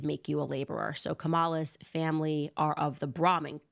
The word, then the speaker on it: Kamala: different ways um so I remember her putting the emphasis on the second syllable so it was like Kamala Cala Cala was how she pronounced it not comma not comma Kamala is actually how Indian